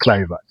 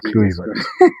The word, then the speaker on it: Kluivert: Simon, the name is Kluivert. Kluivert. Not Kluivert. Because it's Kluivert. Yes, it's Kluivert.